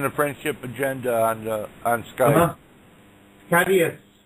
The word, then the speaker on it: caduceus: Yeah, I'll send you a picture of what a caduceus coil looks like. Okay, it's being sent right now. Yeah. Right. Yeah. It's on the friendship agenda on Skype. Cadius.